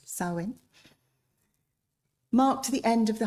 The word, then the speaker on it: Samhain: So the ancient Celtic festival of Samhain, it's spelt Samhain, but it's pronounced Samhain, marked the end of the harvest.